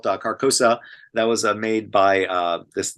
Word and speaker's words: Carcosa: And yes, that was Carcosa. I think I got that. That's in one of my voice reels. I think I got the name wrong. It's technically called Carcosa.